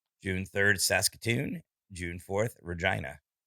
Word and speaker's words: Regina: 3rd saskatoon june 4th regina regina man it's the city that rhymes with yeah